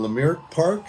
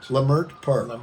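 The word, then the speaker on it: Leimert Park: But uh I'm in Los Angeles at Willy's home and uh we're in Lamar Park. Is that how you say it? L Mer L Mer Park.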